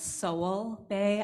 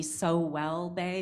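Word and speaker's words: Sowell Bay: town name um and it's Soul Bay I thought it might be so well they because that's kind of how it's spelled it is how it's spelled um I'm curious did you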